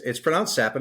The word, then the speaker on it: Capan: record, our friend's name is Frank Capan, but it's pronounced Sapin. It's spelled Capan.